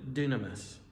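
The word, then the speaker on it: δύναμις: That word for power, the Greek word literally is pronounced dynamis.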